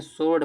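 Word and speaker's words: sword: W silent होता है। सो सॉरी इसको स्वर्ड नहीं स्वर्ड पढ़ेंगे।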